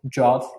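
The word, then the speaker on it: JWT: JSON web token or jot as they yeah we should pronounce it as jot right that's the hip way to do it indeed indeed.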